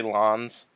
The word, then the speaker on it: Lanez: Tory Lanez. Yeah, I don't know why. It's Tory Lanez, first of all. Oh, is it Lanez? Okay. I heard it pronounced both ways, so Tory Lanez.